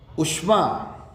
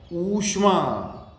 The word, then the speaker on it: ऊष्मा: उष्मा, ये भी गलती करते हैं हम, उष्मा ऊष्मा, बड़ा ऊ है यहां पे।